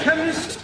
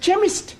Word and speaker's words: chemist: blame k e n chemist does not begin with a k it sounds like it begins with k CH but that is making it chemist no the CH is